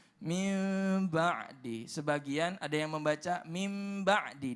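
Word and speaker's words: مِن بَعْدِ: bertemu dengan ba ya maka dibacanya adalah samar-samar keemi menjadi Mi back hingga min ba'di ya jadi pemirsa dimuliakan Allah bacanya mimba'di Sebagian ada yang membaca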